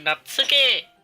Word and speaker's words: Natsuki: Yeah, I'll be Natsuki!